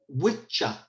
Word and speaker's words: Wicca: creed of Wicca, or in pronunciation in the ancient Norse language, witcha, from which is derived our current word witch.